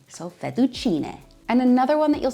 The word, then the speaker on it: fettuccine: The proper pronunciation is fettuccine. In Italian, the E at the end makes the S sound, not E, so fettuccine.